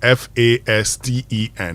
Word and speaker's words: fasten: So the word is FASTEN. So the T, what do we do with it? We throw it away.